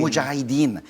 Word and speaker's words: Mujahideen: Mujahideen had its initial run last weekend, right?